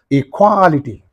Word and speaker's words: equality: The suffix is in these two syllables, therefore what is the syllable preceding the suffix means? Qua. Equality. Equality, right.